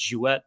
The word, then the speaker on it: Jewett: always wonderful hearing the different pronunciations but when we're in canada it's jewett but it's jewett down here in the states but um yes once